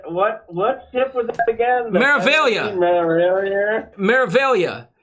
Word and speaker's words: Meraviglia: Meraviglia. Meraviglia. I heard somebody pronounce it Meraviglia the other day. But it's Meraviglia. It's like Meraviglia.